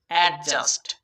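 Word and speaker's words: adjust: Eddy at, জেইউএসটি জাস্ট, অ্যাডজাস্ট। হ্যাঁ, এটা আমরা অনেকেই অ্যাডজাস্ট উচ্চারণ করি, কিন্তু এটার সঠিক উচ্চারণ হবে অ্যাডজাস্ট, অ্যাডজাস্ট। এখানেও ডিটা সাইলেন্ট হয়ে যাবে, খেয়াল রাখতে হবে বিষয়টা।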